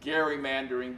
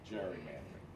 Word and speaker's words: gerrymandering: It should be pronounced gerrymandering, but we pronounce it gerrymandering.